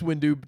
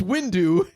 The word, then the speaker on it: Windu: you do what Mace Windu you put the emphasis on the do and not the wind wind um he he's